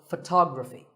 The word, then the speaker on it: photography: is photography we say photograph but photography so the first syllable becomes and the stress goes to the second syllable tog Rafi so photography in the same way